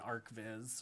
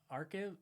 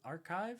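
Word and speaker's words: arXiv: Um, yeah, I see it here on Arc Viz or How do you say that? Archive. Archive.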